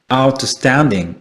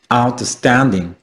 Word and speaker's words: outstanding: 자, 1강세, 그리고 2강세입니다. 자, 어떻게 발음될까요? 자, 이렇게 되겠죠. outstanding. 이렇게 되죠. outstanding.